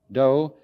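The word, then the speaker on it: 道: the gentle do way do is the Japanese way of pronouncing the Chinese Dao and so it is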